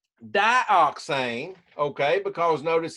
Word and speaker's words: dioxane: used as a solvent it is spelled di o X a and E pronounce that to yourself say it out loud you don't have to keep open your mind just say it out loud where you are dioxane now I want you